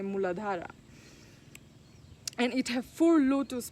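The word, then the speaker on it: Muladhara: is the root chakra in Sanskrit we say mooladhara and it has four lotus petals so the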